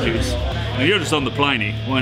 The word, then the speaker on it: Pliny: And properly, it's Pliny. The man was called Pliny. Yeah. But here in America, we call it Pliny.